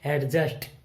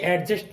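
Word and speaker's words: adjust: दूसरा है, आप जो हमेशा सोचते आए हैं एडजस्ट, जो कि एडजस्ट नहीं है, ये बनता है एडजस्ट। ये हो गया साइलेंट। क्यों हो गया? क्योंकि जे से पहले डी आया हुआ है और डी हो गया साइलेंट। तो हम आगे से इसको क्या पढ़ेंगे? एडजस्ट, ना कि एडजस्ट।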